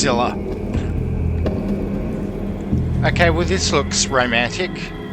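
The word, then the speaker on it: Sylla: all began and now I finally know it's pronounced Silla okay with this looks romantic yes sir Hawkins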